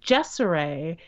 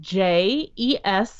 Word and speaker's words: Jeseray: Her name is Jeseray. It's spelled Jeseray. Ah, I like that. Yeah, as you can hear, it kind of looks like Jersey, but it rhymes with Desiree.